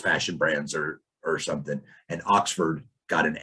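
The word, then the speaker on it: Oxxford: looked, and he said it was Oxford. Mm-hmm. And I, of course, associated that with the school in England, mm-hmm. but he said it's spelled with 2 X's.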